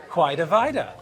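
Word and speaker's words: Quidi Vidi: the guy divide this this guy divide is what led to people pronouncing it quite a vita in the late 19th century now we're getting somewhere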